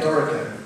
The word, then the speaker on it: Dorico: It's relatively hard to mispronounce. The only alternative pronunciation is like the corn chip snack, but please don't say it that way, as a few people have already.